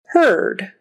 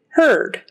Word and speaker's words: heard: like an e word it rhymes with heard heard spelled with an E A but we say it heard heard I heard you